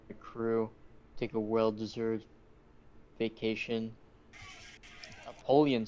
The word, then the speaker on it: Apollyon: Apollyon. pegs, maybe? Apollyon. Apollyon. Yeah. Yes. Okay. Right. Apollyon. Is that spelled like Napoleon but without the N?